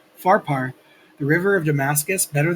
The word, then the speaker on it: Pharpar: Are not the Abana and the Parfar, I keep saying it wrong, Pharpar, the river of Damascus, better than all the waters of Israel?